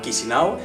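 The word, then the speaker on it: Chișinău: mapa la capital es se escribe chisinau pero se llama kishino y en total el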